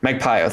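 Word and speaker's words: Magpayo: Magpio, thank you.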